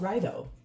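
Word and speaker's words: Raidho: This card is pronounced Rido.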